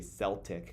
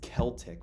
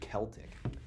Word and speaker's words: Celtic: Celtic, some people say Celtic cuz it starts with the C, but I believe the actual pronunciation is Celtic with a K, Celtic.